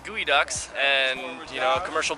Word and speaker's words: geoduck: And farms, what I call geoducks, but how do you say those things? It's gooey ducks and, you know, a commercial boat captain and kind of just doing that gig.